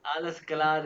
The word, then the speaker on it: Alles klar: नहीं, आलस क्लार।